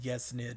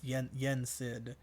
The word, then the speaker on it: Yensid: Yeah, I said Yesnid. It's Yensid. There we go. I said Disney backwards and then still pronounced it wrong.